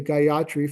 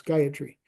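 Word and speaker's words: Gayatri: fairly well known although most theosophy say gatri for some unknown reason um it's there's no stress on the yah um all the syllables are Level so it's gayatry just go straight across like that and it comes from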